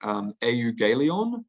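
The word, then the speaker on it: εὐαγγέλιον: So in the Greek, text of the New Testament, and I don't quite know how to pronounce this word, but it's like euangelion.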